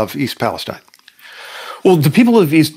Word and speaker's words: East Palestine: very gracious in not calling me out on mispronouncing the name of the town so I'll call myself out it's East Palestine Ohio and secretary Pete Buda judge thanks very